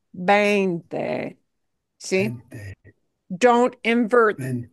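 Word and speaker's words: veinte: So you want to make sure it's your pronunciation is really, really precise for that word, bainte, bainte. See? Vente. Don't invert, you know, Vente.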